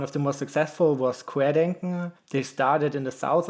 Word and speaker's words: Querdenken: How do you pronounce that? Querdenken.